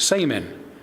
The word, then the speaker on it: shaman: It is pronounced saman and means one who knows, referring to a person believed to have access and a mediator even between people and the spirits.